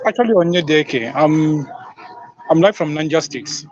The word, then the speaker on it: Onyedieke: You're pronouncing it right, so it's actually Onyedieke.